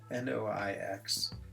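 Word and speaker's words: noix: And so nuts is spelled N-O-I-X and dark is spelled N-O-I-R. And I swear they sound exactly the same.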